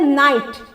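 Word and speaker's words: knight: लोग पढ़ते हैं KNIGST, जिसमें साइलेंट है के और इसका जो प्रोनाउंसिएशन है, इसका जो उच्चारण हम लोग करते हैं उसको हम लोग क्या बोलते हैं, नाइट, जिसमें के क्या है, साइलेंट है और इसका जो मीनिंग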